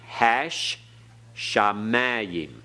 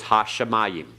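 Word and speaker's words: הַשָּׁמַיִם: hash sha Mayan and notice the doubling dog is machine hash shamayim okay everyone hash man modern Hebrew says ha-shamayim alright we're pronouncing it as biblical hebrew the next one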